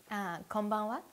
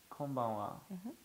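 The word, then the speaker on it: こんばんは: Konbanwa. Konbanwa.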